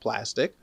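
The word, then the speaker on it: Plastiq: an account on plastic p-l-a-s-t-i-q is the spelling the pronunciation is just plastic right you upload your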